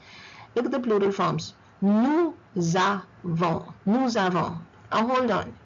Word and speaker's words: nous avons: Nous avons. Nous avons. Oh, hold on. I just told you the S shouldn't be pronounced. Why am I pronouncing it here? Because the second word starts with a vowel.